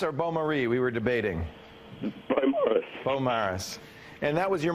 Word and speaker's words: Beaumaris: Beaumaris.